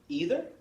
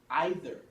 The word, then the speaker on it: either: So this word is pronounced either or either, and they're both correct, okay?